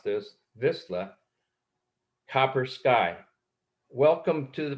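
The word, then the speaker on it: Vizsla: able to pronounce this, Visla, Copper Sky. Welcome to the program, Kristen. How are you? Thanks, Kent. I'm great. I'm great. And you almost got the dog breed right. It's Visla.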